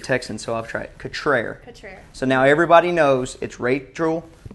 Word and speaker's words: Cutrer: Right, it's Cutrer. Cutrer. And I like to say it is sophisticated French. But it's really actually country Mississippi.